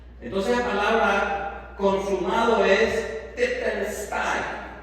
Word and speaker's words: Tetelestai: Entonces la palabra consumado es titelstein, así se pronuncia en griego.